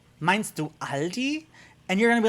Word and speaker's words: Aldi: like no all d's well aldi's doesn't exist it's aldi so german pronunciation al di english aldi literally one word one of the few words that you in english that you pronounce all the darn letters aldi see you said it